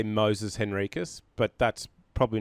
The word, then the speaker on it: Henriques: Well, I say Moises Henriques, but that's probably not consistent to how my dad says it and his descendants before him. So, but yeah, I would say Moises Henriques, basically just how it's spelt, or without the I in the first name.